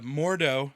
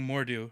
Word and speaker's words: Mordo: but it's cilus uhhuh is the name uh mordo I kept saying moru I think did you yeah it's the problem